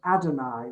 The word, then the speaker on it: Adonai: four consonants in hebrew you don't pronounce them you pronounce the word adonai which means lord which is why we